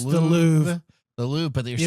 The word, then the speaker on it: Louvre: supposed to pronounce it's not an R like Spanish, but it's an R like the French.